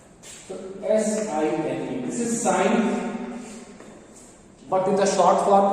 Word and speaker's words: sine: let me write as sine. So S-I-N-E, this is sine, but in the short form we are writing it as S-I-N also. So don't pronounce it as sin, but this sine.